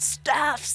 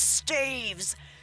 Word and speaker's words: staves: Long story short, both ways to pronounce it are acceptable, but only one way to pronounce ectoplasm.